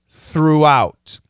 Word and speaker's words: throughout: long o though though and throughout it's a long double O throughout and then an ow diphthong the THS are different